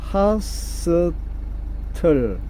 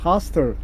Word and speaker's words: hostile: 요거는 hostile, 발음 여러 가지죠. hostile 또는 hostile 또는 hostile 이렇게 하는데, 이거는 호전적인 이 말입니다. 호전적인데, 이걸 어떻게 이제 외워나면 앞에 호가 나오잖아요. 호. 그래서 호전적인, hostile 이렇게 외웠습니다. 미국식 발음으로 보통 호를 하로 발음하죠. 그래서 hostile 이렇게 발음하는데요.